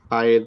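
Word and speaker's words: ح: আচ্ছা, তো এখানে একজন জিজ্ঞাসা করছিলেন যে হায়ের পার্থক্য নিয়ে। তো পার্থক্য আছে, যেটা 1 নম্বর হলো যে উচ্চারণগত পার্থক্য।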